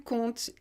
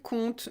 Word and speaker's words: compte: c'est un verbe simple basique je compte tu comptes il compte nous comptons vous conter il coûte la chose intéressante dans cette prononciation et ça c'est important c'est qu'on ne